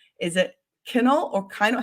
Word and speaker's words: Kinal: people pronounce my last name wrong is it kennel or kind how do you pronounce your last name you got it it's kennel all right kennel everyone we have